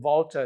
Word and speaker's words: Valter: So, if you want to look up on the internet, there's a really smart cookie called Vulta. It's like Walter, but it's spelled with a V for victory.